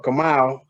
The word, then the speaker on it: Kamau: Kamau, or Kamau, that's what the original pronunciation means quiet warrior or silent warrior.